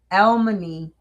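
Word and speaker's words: Elmony: Elman.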